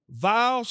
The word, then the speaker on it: Viall: Is it Nick Viall or Viall? Just like don't over-pronunciate the Viall. So just Nick Viall. It's a Viall. Oh, Viall. Oh, there you go.